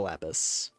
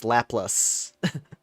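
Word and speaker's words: Laplace: No, keep keep the lapis. Oh, wait. No, it's not lapis. It's not lapis. It's laplas. I've been saying it wrong this whole time. It's It's not lapis. It's laplas. Llas. lap place. Whatever.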